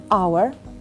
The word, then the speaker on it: hour: But when we want to pronounce the word our, h, the letter h, is silent.